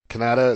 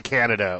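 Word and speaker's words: Kaneda: It's basically Canada with a slight, I guess, Spanish accent.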